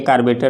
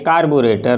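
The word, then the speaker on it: carburetor: Generally से पूछिएगा तो इसको कहेंगे कार्बेटर लोग बोलता है, लेकिन बिल्कुल नहीं, ये कार्बेटर नहीं होता, ये कार्बोरेटर होता है। इसकी स्पेलिंग भी ये है, प्रोनाउंसिएशन भी है, कार्बोरेटर है।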